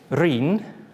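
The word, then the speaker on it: Rhun: Reen. Ap. Yorwerth. That's good. Now, while we're at it, how do you pronounce the first word?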